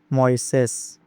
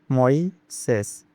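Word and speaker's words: Moisés: And Moises, the stress is on the second syllable, so it is pronounced as Moises. Moises.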